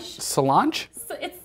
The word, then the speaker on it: Solange: TMZ has released an Uptain security cam elevator video of Solange Knowles. Solange. Solange? It's Solange. Softy? I just want to know how you thought it was pronounced.